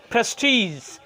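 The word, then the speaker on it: prestige: লাস্টে যেটা এক্সাম্পল সেটা হবে এরকম যে প্রেস্টিজ, এই যে প্রেস্টিজের আপনার GE আছে, দেখেন এটা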